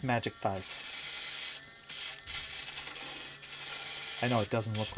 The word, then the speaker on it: mjikthize: Ah yes, my name is pronounced Magic Thighs.